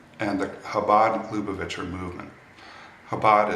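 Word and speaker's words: Chabad: the habad luit movement habad is C is spelled with a CH everyone should know about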